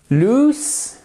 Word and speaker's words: lose: So, lose, to lose. Ok, pensez à la ville de Toulouse. Bon, je ne fais pas de parallèle, mais c'est juste au niveau du son, qu'on soit bien d'accord.